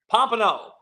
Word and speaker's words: Pompano: How you say it? Pompano. I said it right the first time.